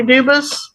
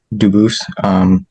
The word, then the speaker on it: Dubus: Kansas versus Dubus. Jared Regier for the state. Is Mr. Dubus present? Dubus? I am Dubus. Dubus is the English pronunciation. Dubus is the original French.